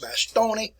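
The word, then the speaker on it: Bastogne: into the sun go to the city of by stone or it's in belgium and they pronounce it by stony i didn't write it down for you good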